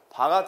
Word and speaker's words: VAR: W가 쓰고 이건 와트다라고 읽어요. 허수부 전력은요, VAR 바가 됩니다.